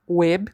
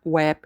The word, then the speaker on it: web: Okay, here we have web and we pronounce web not web like we do in English. So web the e is closed web.